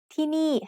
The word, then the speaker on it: ที่นี่: ที่นี่ has 2 syllables, and both syllables have low-class initial consonants. We use ไม้เอก with both syllables to make each one have a falling tone.